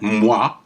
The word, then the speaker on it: moi: Okay, OI is pronounced wa, like in moi, me.